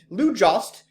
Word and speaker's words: Jost: Lou Jost rhymes with toast.